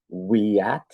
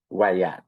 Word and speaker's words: WIAT: qu'il y a disons, des professionnels qui prononcent ça comme we at, un peu comme dire oui at, puis il y a d'autres mondes qui disent Wayat, un peu comme loi blanche, disons.